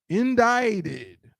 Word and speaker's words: indicted: In this word, it's this I is a long I sound. This C is silent.